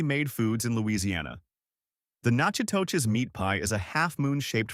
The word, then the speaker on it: Natchitoches: The town of Natchitoches, pronounced Natchitoches, a Mississippian word that the French kept when they founded the settlement in 1714, is the oldest permanent European settlement in Louisiana.